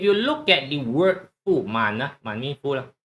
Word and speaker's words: 满: by the way so in Cantonese is pronounced as moon mu n Right. And this is moon. Mandarin is man.